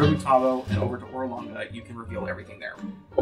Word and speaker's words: Orolunga: Oh, in fact, it is the ziggurat of Orolunga. We have not heard that. that's a word. Ziggurat. Orlanga?